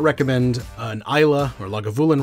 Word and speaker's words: Islay: So for those who don't know, basically, Islay, and it is pronounced Islay, not Islay, not Isla, it's Islay Scotch.